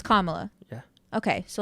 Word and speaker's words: Kamala: come on someone say Remember by saying comma like comma the word La so it's Kamala yeah okay so like